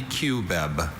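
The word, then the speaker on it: cubeb: Can I have like all the Can I have alternate pronunciation? There's only Qb.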